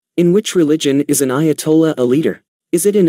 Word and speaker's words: Ayatollah: The term is pronounced Ayatollah.